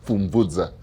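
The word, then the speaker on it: Pfumvudza: Uh so so so the p is not silent the p is combined with the f.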